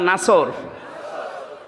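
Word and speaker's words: نصر: এই জন্য যারা এই সূরাটা পড়তে গিয়ে সোয়াদ না বলে সিন দিয়ে উচ্চারণ করেন, আপনার কিন্তু নামাজ হবে না।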